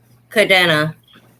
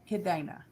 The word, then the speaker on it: Cadena: Cadena. Cadena in English is chain. It's a English name. All right. No, it's a Spanish name. Okay, Cadena. Did I pronounce it right? Cadena. Yes, ma'am. Cadena.